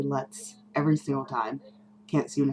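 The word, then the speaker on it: Luts: goes by rio um she pronounced it loots and a lot of people because of her pronounces it that way and that's probably maybe how it should be said but i say let's every single time can't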